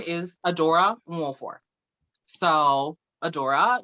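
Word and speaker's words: Nwofor: And Nwolfor it's an Igbo name. And I teach people how to say that in my city, because if you can fucking say Tchaikovsky, you can say Nwolfor.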